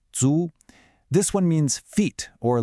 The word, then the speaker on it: 足: And finally, the last character, Jiao, pronounced Zu.